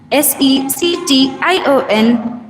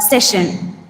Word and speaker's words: section: P O E M is pronounced as poem and not poem and section S E C T I O N is pronounced as section not session.